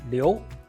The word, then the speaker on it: 哩喲: In Hakka, the word "哩喲" is pronounced as "li" and "io" in a harmonic combination, which is lioˊ.